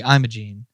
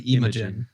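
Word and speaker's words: Imogen: every time I see I see IM aene but it's actually imin imin Heap well she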